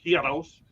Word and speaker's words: gyros: but they call them gyros but it's pronounced heroes it's a greek sandwich